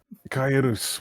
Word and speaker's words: Kaelus: Closest for human pronunciation. Oh, granted, you're not human, but it's still. I squeak a few things. Kaelus would be the closest way.